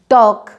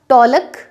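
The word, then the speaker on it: talk: Next हमने लिया के से पहले अगर एल आया है, टॉक, वॉक, तो यहाँ पे आप टॉलक वॉलक नहीं बोलेंगे, टॉक वॉक ये बोलेंगे।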